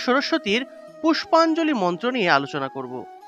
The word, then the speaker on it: সরস্বতী: এই যে বফলা যুক্ত দন্তস্ব, বফলা থাকলে এটা মূলত সুয় উচ্চারণ হবে। সুয় উচ্চারণ করতে হবে, অর্থাৎ এইভাবে সুয় উচ্চারণ করতে হবে। তাহলে সরস্বতী।